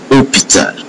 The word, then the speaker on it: hôpital: n onion onion cognac H not pronounced. So this letter H is not pronounced at all. So you have hereel hôpital you have top N.